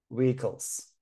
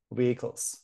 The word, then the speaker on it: vehicles: model vehicles this age is silent we don't pronounce it vehicles vehicles model vehicles cars and trucks so you see